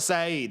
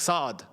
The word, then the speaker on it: Saad: I don't want to say, but it's not Said. It's not Said. It's like Saad.